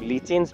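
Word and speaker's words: lichens: Viruses, viroids, prions and द लाइकेन्स, कई लोग लीचेंस भी प्रोनाउंस करते हैं, वो अनक्लासिफाइड ऑर्गेनिजम्स के अंदर जनरली हम इंक्लूड करते हैं।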